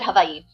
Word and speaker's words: Hawaii: I was very fortunate because I um so I'm from Hawaii actually pronounc it havi but and um there was this one um doctor his name is Dr.